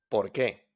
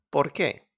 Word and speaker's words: por qué: ¿Por qué? ¿Por qué? We don't pronounce the U.